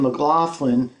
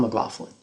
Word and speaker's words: McLaughlin: It is both. Yeah, John pronounces his name McLaughlin when he's in the United States because he believes that's how people pronounce it. So if you hear him sometimes at the end of concerts, thank you, and I'm John McLaughlin.